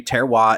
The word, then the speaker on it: terroir: a lot in the wine industry, which is terroir, if I'm pronouncing that correctly. Yes. Thank you. And in the wine industry, terroir is the idea that the climate, the soil